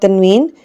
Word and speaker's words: tanween: In short, we can say like tanween, when a sign comes doubled or when a sign comes 2 times, we say tanween, and tanween sounds n at the end.